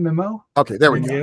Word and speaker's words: Mimieux: pronounce her last name mimo okay there we go I think it's mimu m yeah it's like a French cow M she looks like